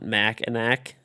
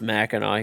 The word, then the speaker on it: Mackinac: We always call it Mackinac. Maybe that's how it's pronounced there. I don't know. It's pronounced Mackinac here. Maybe it's wrong, but that's what everybody calls it, at least.